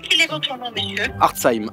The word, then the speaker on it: Hartzheim: Hartzheim, H-A-R-T-Z, comme ça se prononce.